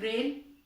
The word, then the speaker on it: reign: और क्योंकि जब इसका हम उच्चारण करते हैं तो इन तीनों को ही हम रेन ही बोलते हैं, रेन ही पढ़ते हैं, लेकिन स्पेलिंग तीनों की अलग है।